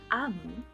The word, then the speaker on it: Omu: Amu, pronounced Amu, is the Igbo term for queen.